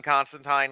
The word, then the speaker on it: Constantine: cartoons they call them constantine so much that even i switch between the two um but yeah no technically it is constantine um but that's how alan moore pronounces it and [ __